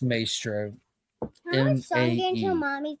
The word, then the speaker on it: Maestro: It's pronounced Maestro.